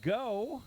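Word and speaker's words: Geaux: late but we are ready for hockey and go that is spelled Gea ux Tigers already a little friendly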